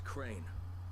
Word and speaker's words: Crane: No, my name's Crane. Crane? Crane rhymes with train, and brain, and sane, and grain, and rain, and plane, and the other kind of plane, and...